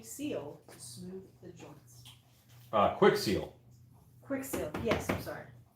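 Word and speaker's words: Kwik Seal: Quick Seal. Quick Seal, yes, I'm sorry. You know what's funny is almost everybody who does an EVA foam video talks about Quick Seal and they mispronounce it Kiwi Seal.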